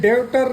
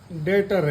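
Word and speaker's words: debtor: मतलब कर्ज ठीक है ऐसे ही यह डेटर नहीं है डेटर है मतलब कर्जदार कर्जदार ऐसे ही डाउट डाउट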